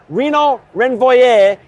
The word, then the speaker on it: Renaud Renvoye: and we're honored to have with us today Renaud Renvoye. He's a French transplant, so thank you for putting up with my pronunciation of your name.